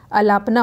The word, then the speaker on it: अलापना: ठीक है, देखिए कर्नाटक संगीत में अलापना, ठीक है, अलापना होता है, मैंने यहाँ पे गलत प्रोनाउंसिएशन कर दिया था, अलापना होगा।